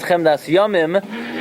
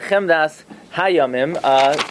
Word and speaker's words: Chemdas Yamim: The correct pronunciation is Chemdas Yamim, not Chemdas Hayamim.